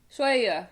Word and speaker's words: شوية: Shwaya.